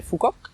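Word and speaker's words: Phú Quốc: l'île qui est au sud en fête s'appelle phu quoc qu'on prononce aussi fort qu cette île l'âge et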